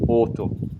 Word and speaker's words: oto: Chapelle, cappella, automotive, autoservice, tutto quello che segue la parola auto, che in francese si scrive auto ma si pronuncia auto, in turco si scrive O-T-O, auto, direttamente.